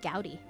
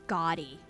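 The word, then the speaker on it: gaudy: like oh yeah that jewelry is kind of gouty and they were like did you say what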